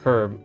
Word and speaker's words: herb: An herb cuz I know you pronounce herb herb like the h is somewhat silent in that word although I assume it's you know anyway.